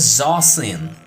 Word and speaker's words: Zawsin: The name is Zawsin. Not a real name, but pronounced like that. Oh, Zawsin.